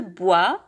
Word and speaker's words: bois: le bois مادة الخشب هي le bois. لا ننطق الأس.